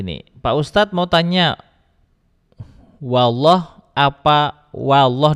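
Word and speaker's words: والله: Huruf wa berharakat fathah kan dibaca wa dan jangan sampai terkontaminasi dengan lafaz Allah. Allah kan tebal memang. Lafaz Allah tebal. Allah huruf lam pada lafaz Allah tuh tebal. Tapi huruf wnya itu tetap tipis. Jangan wo. Kalau wo jadi tebal, maka bacanya wall. Jadi ketika wa wal jadi wnya jelas.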